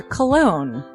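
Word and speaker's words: Colon: It is a self-published book by Christopher Cologne.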